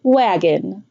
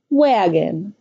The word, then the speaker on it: wagon: Listen to the two syllables in the word Wagon. Wagon. The first syllable is stressed; the second syllable is unstressed. The vowel sound becomes indistinct or neutral.